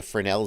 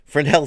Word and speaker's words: Fresnel: is known as the fresnel zone or fresnel zone if you are an american who you never learned to pronounce it right frenel zone and the fresnel zone anything